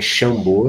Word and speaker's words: Xambô: Aí tá também no Sambo também é Xambô, também SH.